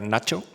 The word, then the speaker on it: Nature: Y esto que os voy a enseñar se publicó en la revista Nature, como dice Arzuaga, hay que pronunciar Nacho, como nuestro Nacho de Ignacio, y es sorprendente, porque pone de manifiesto muchas cosas.